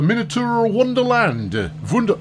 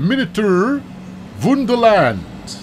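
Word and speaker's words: Miniatur Wonderland: course to the uh the minotaur wonderland sorry beg your partner i'll do the pronunciation correct the miniature wonderland which may be a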